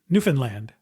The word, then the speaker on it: Newfoundland: Anyway, emphasis is on the beginning of the word, so not on land, but is also not on the word found, which is truncated to fun in the current pronunciation.